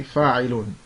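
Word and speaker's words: فَاعِلٌ: However, those two dhammas there are not pronounced if you stop on the word. So if we were reading the word in a sentence and it was in the middle of the sentence, we might say fa'ilun.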